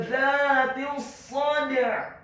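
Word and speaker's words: ذات الصدع: Kata dzatis sad, huruf za-nya dibaca tipis, tarqiq, lidahnya agak keluar sedikit, fathah 2 harokat karena setelahnya ada alif. Kemudian huruf ta-nya dibaca tipis, tarqiq, kasrah cukup 1 harokat saja karena setelahnya langsung disambung.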